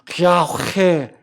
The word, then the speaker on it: 야훼: 여기 야흐웨라는 이 단어는 입술과 혀로 발음되는 단어가 아니라 마치 코로 숨을 쉬듯이 발음되는 야훼, 이렇게 발음되는 그런 단어입니다.